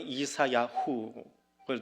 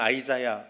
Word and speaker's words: 이사야: 안 띄워두세요 저자는 누구예요 이사야 히브리어는 이사야후를 줄여서 이사야라고 합니다 영어로는 아이자야 그렇게 발음을 하는데 여호와께서 구원하신다 그런 이름